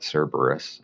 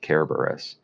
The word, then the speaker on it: Kerberos: Some people pronounce that Cerberus. I pronounce it Kerberos.